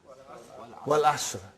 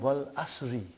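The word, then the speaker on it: والعصر: What is the first ayah? Wal Asr. Have you ever noted down what is written there? It's called Wal Asri. It's majroor.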